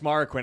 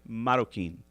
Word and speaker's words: Marroquin: So if you say it, he said if you say it with a little accent, you can say Marroquin.